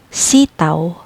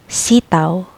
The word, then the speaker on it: sitaw: Aw, like now. Example, sitaw, sitaw, string beans.